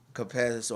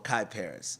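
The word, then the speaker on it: Kyparis: called Dance of the the producer's name is spelled KY p a r i s so I'm saying caparis or kiparis it could it could be caparis it could be Kai Paris so I hope I'm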